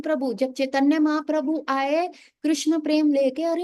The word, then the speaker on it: कृष्ण: का नाम लेंगे अरे कृष्ण कृष्ण बोलेंगे और अगर गलती से गलत बोल दिया कृष्णा बोल दिया कृष्ण है नाम कृष्ण नहीं बोल के कृष्णा बोल दिया या चाइनीस तो का